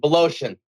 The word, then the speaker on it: Woloszyn: Joining me is Woloszyn. Is that the correct pronunciation? That is close enough, brother. Woloszyn.